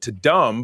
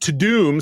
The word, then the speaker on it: Tudum: oh we missed the the I called it to dumb but when I started to watch it it's probably they don't want it didn't want people calling it dumb. Um it's pronounced to doom so is Netflix to doom event really apparently